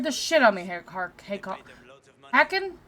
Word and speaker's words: Hakon: Scared the shit out of me, Hacken? Is that how you say his name? I keep wanting to call him Harkon. It's Harkon.